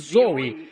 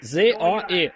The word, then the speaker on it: Zoe: Deus ou vida eterna são pronunciadas Zoe z o e Zoe vida e a